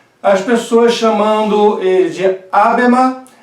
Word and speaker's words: Habermas: Na verdade, a pronúncia do HA não é nem no sentido de um H, nem no sentido de um R. Não é nem A, nem Ra. É um meio termo, tá? Que fica difícil para nós pronunciarmos dentro da língua portuguesa, a não ser que tenha um bom domínio do alemão. Então, nem é Habermas, nem é Habermas.